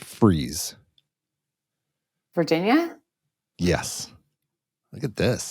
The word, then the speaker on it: Fries: so this one is spelled f r i s fries but pronounced freeze Virginia yes look at